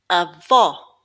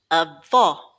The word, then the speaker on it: avó: falo falo With an acute accent, it opens it up a bit more like the word hop.